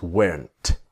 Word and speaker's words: weren't: Now with just like was not to wasn't, were not is weren't. But of course, the T is silent.